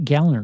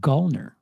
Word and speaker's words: Gallner: learned from uh like Kyle gallner says it's pronounced gallner not gner oh funny the go which is funny because